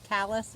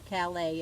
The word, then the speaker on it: Calais: of the town and she says callus or calais of your french so either way but look at this